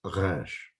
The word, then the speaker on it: resh: It is resh, pronounced in the back of your throat.